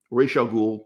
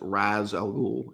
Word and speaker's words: Ra's al Ghul: Ra's al Ghul, some people pronounce it Raz al Ghul. It is pronounced Ra's officially.